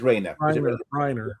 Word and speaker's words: Reiner: Pronounces Reiner.